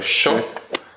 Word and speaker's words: yo: Y en lo que es pronunciación, lo más típico que seguro ya lo habrán notado es la Y se dice sh, como por ejemplo yo, en vez de ya.